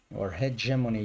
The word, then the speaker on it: hegemony: And if it's fully engaged in globalization, but it's not cooperating, and it's a hegemony if you pronounce the H.